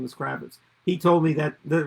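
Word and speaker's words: Krawicz: cool way of spelling it's still pronounced kravitz but it's spelled a different way in the from the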